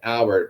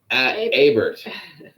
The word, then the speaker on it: Abert: I look and I immediately think it's Albert, but it's Abert.